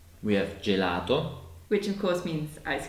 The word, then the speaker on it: gelato: But when G is followed by the letter I or E, it becomes a soft J sound. And we can see it in gelato.